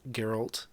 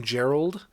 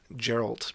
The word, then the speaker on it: Geralt: geralt cause i'm so used to the name gerald and every time i would see his name i would always uh kind of mix the two geralt but it's geralt i understand that now i'm